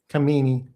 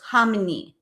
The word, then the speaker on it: Khamenei: I think it's pronounced the it Khamenei. No, it it you don't pronounce the K. So, it's Hamenei. Like hominy grits.